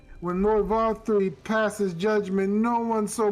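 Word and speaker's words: Vauthry: V3. V3. Okay. Like just disregard those the last the second half and just think of the letter think of the number three.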